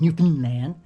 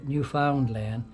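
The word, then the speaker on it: Newfoundland: hard to say guys it doesn't roll off roll off the tongue as easily as New Finland uh but uh once you force yourself to kind of readjust and and and uh pronounce the the name of the place correctly uh new found land you know eventually it starts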